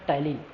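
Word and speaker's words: ptyalin: Amylase इसका दूसरा नाम जिसको हमने कहा था टाइलिन। याद रखिए टाइलिन में पी साइलेंट है, ठीक है। टाइलिन का जो स्पेलिंग है पी टाइलिन ऐसा कुछ लिखा रहता है, लेकिन ये टाइलिन साइलेंट है, ठीक है।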